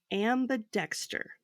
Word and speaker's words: ambidexter: your first term is ambidexter and I can spell it for you so it's a m b i and then Dexter like the person so it sounds like